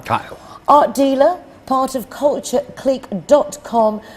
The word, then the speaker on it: Kyle: I always wanted to say Kale because of the way you spell it, but it's not. It's James Kyle. Kyle.